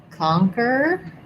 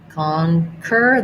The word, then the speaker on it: conquer: First syllable stress. The letter O says ah, which it typically does in stress syllables. Conquer. The QU here says just a K sound, unusual pronunciation there. And then we have just an sound.